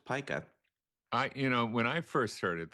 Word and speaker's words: Pica: And you pronounced it correctly because sometimes people think it should be Pica. I don't know why, but it is pronounced Pica.